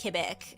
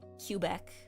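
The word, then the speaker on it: Québec: No, I can say I know for sure it's pronounced Quebec and not Cubec.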